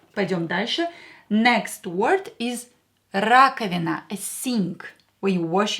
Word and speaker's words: раковина: Раковина. Раковина. Давайте напишем. Let's write it down. Раковина. Раковина. A sink. A sink. Скажите, say, раковина. Here O will be pronounced as A because it's not stressed.